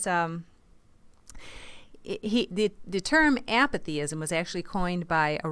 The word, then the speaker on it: apathyism: And in case you're wondering, meh is spelled M-E-H. Mm. And so he's talking about apathyism.